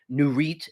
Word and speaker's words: Nurit: one of my favorites it's called the nurit n-u-r-i-t new REITs is how you say it new Reit 2085 they